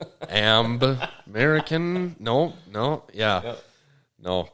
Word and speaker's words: Amb: yeah and it's actually if you if you say my name right it's norwegian it's am so if you say american it's why i did that okay um everyone even